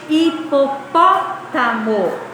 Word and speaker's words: hipopótamo: Hipopótamo. Qual sílaba é a mais forte? O pó.